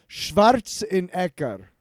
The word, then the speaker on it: Schwarzenegger: Yeah, I love being such a fan of not only the book but also the Running Man featuring Arnold Schwarzenegger is how you pronounce it in German. Schwarzenegger.